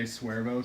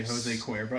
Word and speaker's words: Jose Cuervo: Jose Suervo because you don't want to say Jose Cuervo.